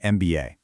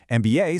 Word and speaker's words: MBA: Similarly, MBA starts with a consonant, but phonetically you say MBA, starting with an E vowel sound.